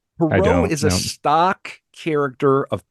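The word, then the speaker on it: Pierrot: perau p i e r r o t pero is a stock character of pantomime and Comedia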